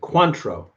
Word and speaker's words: Cointreau: Oh, that's how you pronounce it, Cointreau.